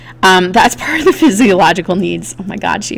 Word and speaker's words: physiological: you say it and you can notice that you've cut you know the word fizzy like from physical and thenal like psychological so um physiological you know that you have food